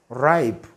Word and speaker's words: ripe: is a short vowel but when we add e it changes is the world becomes ripe ripe so ripe the silent letter there is very good the silent letter is e so when you it becomes ripe that vowel becomes what a long sound it's not now a short sound are you getting that